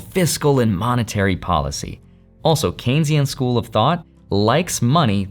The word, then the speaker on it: Keynesian: Economics that people also believe which is the Keynesian approach keyan key Keynesian even though it's spelled ke hard to pronounce but just Kensington